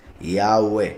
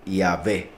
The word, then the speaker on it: Yahweh: Entonces es como una I, como una A, como una U y como una E. Cada una de las 4 letras. Yahweh, así es como se pronuncia, I-A-U-E.